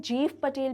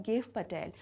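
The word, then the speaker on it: Gieve Patel: Students, कई लोग इन्हें जीव पटेल भी कहकर बुलाते हैं, जो कि हो सकता है कुछ नेटिव लैंग्वेजेस में एक सही उच्चारण हो, लेकिन इनका जो सही नाम है वो है गिव पटेल।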